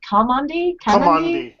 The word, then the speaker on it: Kamandi: Kamandi.